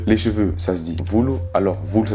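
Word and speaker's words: volo: Les cheveux, ça se dit vulu. Alors vulu, ça s'écrit V-O-L-O, donc vulu, V-O-L-O, les cheveux.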